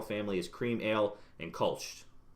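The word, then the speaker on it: Kölsch: as cream ale and Kolsch. Kolsch? Did I get that right? Kolsch. Yeah, Kolsch.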